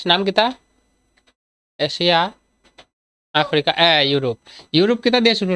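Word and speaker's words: Europe: কিতা, Asia, Africa, ইউরোপ, ইউরোপ কিতা দিয়ে শুরু রে, ইউ আর ও পি ই, ইউরোপ কিতা দিয়ে শুরু হয়, কিতা কিতা দিয়ে শুরু হয়, ইউরোপ, উচ্চারণটা কিতা আইছে ইউ, ইউ কেমনে রস্বই, রস্বই,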